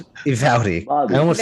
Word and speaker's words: Uvalde: How do you pronounce it? Uvalde.